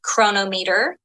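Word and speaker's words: Cronometer: downloading an app like chronometer which is spelled weird c-r-o-n-o-m-e-t-e-r and um and I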